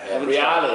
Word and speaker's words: Reale: Reale is actually how you pronounce it.